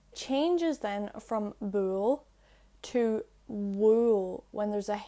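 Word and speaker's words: bhuail: then from bull to wool when there's a h added after the b when b h is followed by a broad vowel such as u a or o it's pronounced like a w so i just gave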